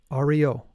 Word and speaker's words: Ario: The disciples should pronounce the mantra Ario, A-Ri-O, in order to prepare themselves for the ascension of the sun with the Sig rune, which is the next rune.